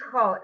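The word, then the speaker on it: כׇּל: It's chol. That word is always chol.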